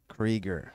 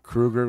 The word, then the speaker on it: Krueger: chainsaw check out Ben Ben Krueger creger creger not Krueger like you I'm the Krueger is it not spelled the same it's spelled the same okay they say it differently Ron oh I didn't